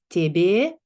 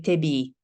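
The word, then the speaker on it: тебѣ: predominant Russian tradition pronounces tebe, but the Ruthenians and Ukrainians continue this tradition. The Ruthenians already in the early modern period, they pronounce it as e. So they say tebi instead of tebe.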